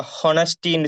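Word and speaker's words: honesty: பியு சொன்னா பயம் ஹனஸ்டி நாங்க ஹனஸ்டின்ு சொல்லி உச்சரிக்க மாட்டோம் ஹனஸ்டி அங்க எச்சக்கு நாங்க சவுண்ட் கொடுக்க மாட்டோம் ஹனஸ்டி ஹனஸ்டி என்று சொல்றது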